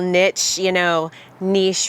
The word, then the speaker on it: niche: So when you find these little niche rather. Thank you for clarifying that. Thank you. So, I'm the word lady. I gotta, niche rhymes with quiche.